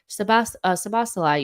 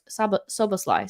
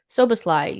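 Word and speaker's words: Szoboszlai: we know now, you could have got Sabasalai, you could have gotten, or Soboslai, sorry. Somebody told me that it annoyed them so much that I didn't say it correctly. Soboslai, you could have gotten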